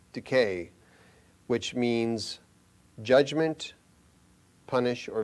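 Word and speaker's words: δίκη: That's how it's pronounced, decay, which means judgment, punish, or vengeance.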